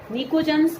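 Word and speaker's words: pnicogens: निकोजेंस। इसमें P silent, ठीक है। निकोजेंस मतलब बेसिकली उसका मतलब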